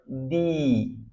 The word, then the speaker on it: the: যখন ভাওয়েলের আগে THE বসে তখন তার উচ্চারণ হয় দি।